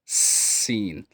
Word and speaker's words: س: So the next letter is seen like snake. Seen seen like seen teeth should be tighter and seen.